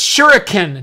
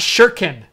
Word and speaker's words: shuriken: the site shirtkin where it's it's shuriken not sure Kim it's 2019 learn to learn the japanese pronunciation and all I could